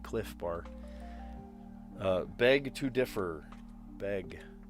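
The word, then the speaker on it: Clif Bar: It's spelled bizarrely, but cliff bar.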